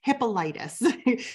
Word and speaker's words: Hippolytus: sure I get the saints name or the pronunciation of his name right hippolytus so he was drawn and quartered that was